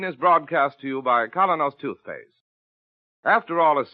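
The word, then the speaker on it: Kolynos: Keen is broadcast to you by Colinos toothpaste.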